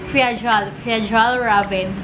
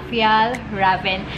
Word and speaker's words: Fjällräven: So, akala ko dati yung pronunciation niya is Fjällräven. Pero ayun, silent J siya, kaya Fjällräven.